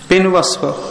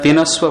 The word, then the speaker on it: पिनवस्व: पिनवस्व, हाँ ठीक है, मेरे उच्चारण में दोष है, ठीक है, पिनवस्व, मैं पिनस्व बोल रहा था, ठीक है, पिनवस्व भूल हो रही थी मेरे से।